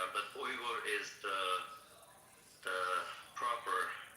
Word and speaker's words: Uyghur: The actual pronunciation of the word is actually Uyghur.